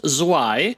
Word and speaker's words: Zwei: I've got 2 of these, apparently pronounced Zwei.